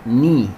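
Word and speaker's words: knee: وكنا خدنا الركبة، ني اللي أولها كي مش بتتنطق.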